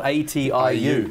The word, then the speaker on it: Atiu: atu have you been you actually pronounce that very well a lot of people can't it's called atiu yeah and it is